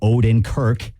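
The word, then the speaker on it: Odenkirk: Breaking Bad Bob odor nick uh odor o Odin Kirk that's how you say his name I don't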